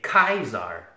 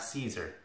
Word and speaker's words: Caesar: You say Kaiser, not Caesar, because Kaiser is the emperor, Caesar is the salad.